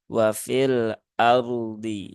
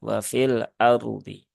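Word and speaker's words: وفي الأرض: untuk mengingatkan ya bahwasanya ketika kita wakaf pada dua huruf sukun maka kedua huruf ini harus dilafazkan dengan sempurna ya tidak ada yang dikurangi kadarnya tidak ada yang disamarkan jadi tidak dibaca dengan wafil ARD wafil ARD ya atau wafil ARD nah tetapi tunaikan dulu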